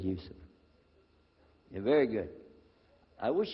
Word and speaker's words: Yusuf: My name is Yousef. Can you say Yousef? You said Yousef.